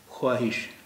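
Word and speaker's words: خواہش: ख्वाहिश, ख्वाहिश, ख्वाब, ख्वाहिश, लेकिन अब इनके उच्चारण में वाव का उच्चारण ये नहीं होता है, ये इसका उच्चारण होता है ख्वाब, ख्वाब नहीं होता है। ख्वाहिश इसका उच्चारण नहीं होता है, इसका उच्चारण होता है ख्वाहिश, यानी वाव का उच्चारण यहाँ पे गायब हो गया।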